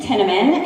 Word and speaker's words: Tinnamon: My name is Megan Tinnamon. It rhymes with cinnamon.